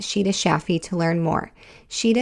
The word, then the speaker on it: Shideh: Sheeta is spelled Shideh, and Shaffi is spelled Shafie.